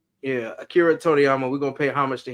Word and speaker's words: Toriyama: say his name again I'm I'm horrible Akira torama yeah Akira Toriyama we gonna pay homage to him on this